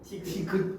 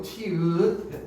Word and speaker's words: 티읕: 티귿 티귿 아니고 티읕 네.